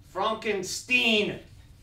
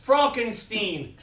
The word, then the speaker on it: Frankenstein: questions before we proceed that's frankenstein' hi my name is pronounced frogenstein dr.